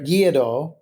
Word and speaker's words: gyros: So, a little different than your gyros, or as a lot of Americans say gyro.